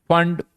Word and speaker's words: Pfund: इसे कहा जाता है बामर, देन पास्चन, देन ब्रैकेट, और देन फंड, बट स्पेलिंग होती PFUND, PFUND।